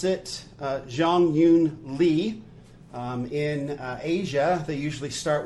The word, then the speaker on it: Jeongeun Lee: her name is Li Zhong Yu and we pronounce it Jong Hyun Lee in Asia they usually start with their last